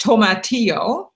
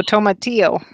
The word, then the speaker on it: tomatillo: haven't actually grown in the garden so properly pronounced tomatillo there we go tomatillo my tio I grew them one year because